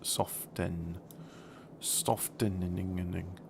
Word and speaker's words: soften: let's soften soften okay you don't pronounce the tea and soft soft Den ing French is even worse